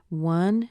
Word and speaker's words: one: is pronounced fairly clearly one is it starts with an O but it actually has a W sound one so o any